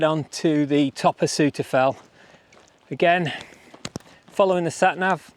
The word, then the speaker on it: Souther Fell: Right, this fell is called Suter Fell, but it's spelt Suter Fell.